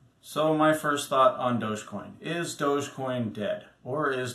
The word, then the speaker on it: Dogecoin: people pronounce it as dogecoin now the easiest way to think of this is you think of luge like a bobsled but the one you